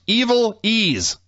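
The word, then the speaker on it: Ivelisse: names first one was ivelise yeah pronounced evil ease so she according to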